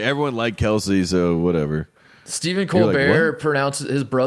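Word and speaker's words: Kelce: like because didn't travis kelsey say something too where he's like my name is kels but everyone said kelsey and i just rolled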